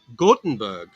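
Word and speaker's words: Göteborg: same mother ah okay you say gothenburg as gothenburg but you say gotenberg in swedish did i say it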